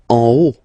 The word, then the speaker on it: en haut: En haut. En haut. Okay, final T not pronounced, and then this H as previously, you don't pronounce it, so this is haut.